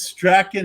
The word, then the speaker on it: Strachan: Is Strachan how you pronounce it? No, you absolutely nailed that. And unlike Michael Strawn of the Colts, who spells his name exactly the same but pronounces it completely different, he got cut today. But yeah, you nailed the Strachan pronunciation.